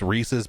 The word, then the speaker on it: Reese's: Yeah, and so it's Reese's Pieces, like it rhymes, like that's the whole thing, Reese's Pieces.